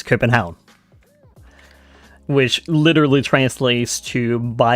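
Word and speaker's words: København: Uh, Copenhagen is spelled C O P E N H A G E N. Though I would spell it differently in Danish because it's not uh Copenhagen in Danish. is Cenhound, which literally translates to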